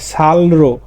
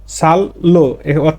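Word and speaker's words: 쌀로: এখানে রো মানে দিয়ে সাল মানে চাল তাহলে সালরো সাললো উচ্চারণটা হবে সালল চাল দিয়ে ছিিত সুমনিদা তৈরি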